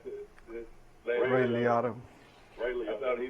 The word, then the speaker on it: Liotta: How you pronounce it? Ray Liotta.